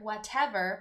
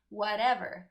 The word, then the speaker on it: whatever: have a tea there whatever but we don't pronounce the teeth we pronounce it as a flap T which sounds more like a D in English whatever that the whatever whatever